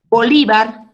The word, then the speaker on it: Bolívar: Bolívar. ¿Dónde lleva la fuerza de voz? La penúltima, señor. Li.